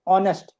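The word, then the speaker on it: honest: ऑनेस्ट नहीं पढ़ते हम इसको। एक साइलेंट है यहां पे ऑनेस्ट ओ है ना तो ही इज एन ऑनेस्ट मैन who always तो एन लगेगा वोवेल के साउंड की वजह से और क्योंकि ये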